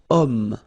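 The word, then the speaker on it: homme: computer third possibility here we've got om man okay uh but then o is here we've got this ash letter remember Ash is not pronounced okay so you've got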